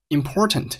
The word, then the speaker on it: important: Important 这个单词中间的字母 t 发生了一个 glottal stop，叫做声门闭合音，读成了 important.